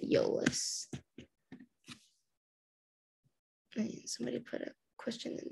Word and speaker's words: Iolas: Yeah, so it starts with an I-O, but you pronounce it Iolas.